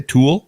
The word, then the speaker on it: Thule: the custom uh thule tool tool is that how you say tool yeah how come it's